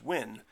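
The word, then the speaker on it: Nguyen: never I I had no idea how to pronounce n gu ye n and that's a pronounced win well I never would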